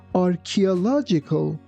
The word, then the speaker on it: archaeological: Here, be careful that ch doesn't sound like ch, it sounds like. That's why we say archaeological.